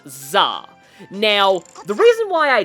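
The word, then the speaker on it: 座: So that kanji right there that sent me down a rabbit hole of research because that is pronounced Zah.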